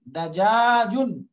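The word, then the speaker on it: دجاجٌ: দাজা দাজাজুন, দাজাজুন দাজাজুন, সবগুলো শেষে তানবিন দিয়ে পড়বো আমরা, দাজাজুন লাহমুন।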